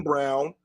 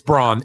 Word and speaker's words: Braun: Jackson yeah Christian Christian Brown yeah it's Brun it's Brun I don't care how he says Christian it's spelled Braun but it's brown Okay Christian Reggie Jackson